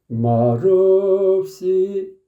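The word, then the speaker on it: 말없이: "mal" 에서 'l' 자음 을 발음 하면 , 그 자음 이 "eop" 로 이어져 "reop" 이 됩니다 . "Mareopsi" 처럼 말 이죠 .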